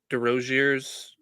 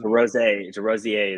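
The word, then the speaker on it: Desrosiers: They also brought in a transfer from UMass, Greg DeRoziers Jr. It might be French. I'm not sure on the pronunciation. DeRozier is what I was told.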